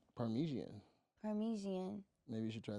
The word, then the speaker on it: Parmesan: spaghetti no yeah yeah paresan parmesan is that how you say it well it's actually parmesian parmesian yeah you right if